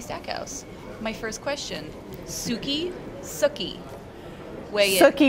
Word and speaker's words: Sookie: house my first question Suki suie Suk rhymes with cookie so Southern it's a